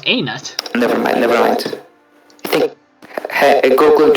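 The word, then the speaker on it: Hainaut: Well, part of the Greater German Culture Group, except for Haynut, whatever. No. You know, the H is silent and... oh, it's Anut.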